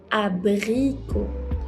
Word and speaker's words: abricots: Une tarte aux abricots. Une tarte aux abricots. So the P change on B is abricot in French.